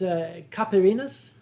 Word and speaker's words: caipirinha: They were going to introduce me to, I believe it's pronounced Caipirinhas.